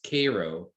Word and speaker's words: Cairo: town called cairo it's spelled cairo but it's pronounced cairo i used to go to a movie theater